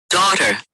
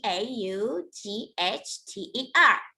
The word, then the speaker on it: daughter: for the girl t d-a-u-g-h t e r d a u g s t e r we do not pronounce g h we write them what we don't say say that daughter she's